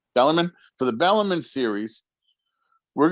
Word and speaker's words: Bellarmine: Bellamy that's what I've been saying that's right Bellarmine for the Bellarmine series we're gonna go offensively